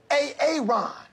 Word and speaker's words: Aaron: I said it like four times, so why didn't you say it the first time I said A-A-Ron? Because it's pronounced Aaron?